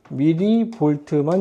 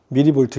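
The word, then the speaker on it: 밀리볼트: 이거 쓸 때 MV라고 읽으시면 안 됩니다. 이걸 MV라고 읽으면 문과. 아직 안 정해졌나 너네들? 너네 문이과가 아예 선택을 아예 안 하니? 그냥 과목만 선택하니? 그래도 이과 과목들은 선택할 거 아니야. 그럼 이과지 뭐야? 문이과 따로 나눠져 있지는 않지만 이과 과목 선택하면 이과지 뭐야? 그렇지? 그러니까 MV라고 읽으면 문과 과목 선택해야 된다고. 알겠죠? 미리 볼트입니다. 미리 볼트 이렇게 읽어줘야 돼.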